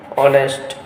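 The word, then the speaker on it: honest: Honor, an hour, an ऑनेस्ट। क्यों? क्योंकि एच जो है वो साइलेंट है और यहाँ पे honour, our, ऑनेस्ट मैन यूज किया जा रहा है।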